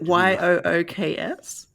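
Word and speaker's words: Yuke's: But is it YOOKS? No, YUKES. And I may be pronouncing it wrong for all I know.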